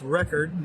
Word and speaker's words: Reccord: And by the way, I was pronouncing your name incorrectly. It's Record, not Record.